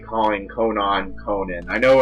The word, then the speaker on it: Konan: it is but i just like calling conan conan i know it's pronounced conan but i'm just used to calling